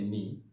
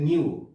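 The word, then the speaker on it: knew: এটা কিন্তু অনেকেই উচ্চারণটা বলে নিউ, আসলে নিউ হবে না, নো।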